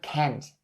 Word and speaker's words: can't: the word can't now notice the word kent ends with the t sound and is in its negative form so you can turn the t sound at the end into a stop t sound because it's going to be more natural and negative that way so can can put